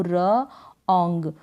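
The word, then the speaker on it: wrong: रो पड़ेंगे लेकिन उन डब्लू है इसमें यह साइलेंट है यह क्या है साइलेंट है तो डब्लू को हम नहीं करेंगे और को रोंग रोंग हो गया रंग का मतलब गलत तो जो रॉन्ग की स्पेलिंग है वहां पर डब्लू को हम नहीं रीड करेंगे एंड कूल और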